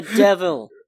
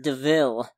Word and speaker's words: DeVille: this car is called it's a devil pronounced DeVille it is a coop